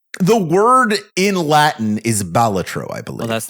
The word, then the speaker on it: Balatro: How do we pronounce this? I'm pretty sure it's Balatro. Balatro. I think it's Okay. Balatro. It's Balatro, for sure.